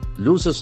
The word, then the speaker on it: lose: Lose, the pronunciation is very important. Lose, letter S has got Z sound.